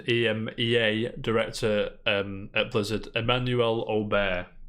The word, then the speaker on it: Aubert: Former Senior EMEA, Blizzard Delphine Lacour, and EMEA Director at Blizzard Emmanuel Aubert. I'm assuming the T is silent because it sounds as if Emmanuel is of French descent.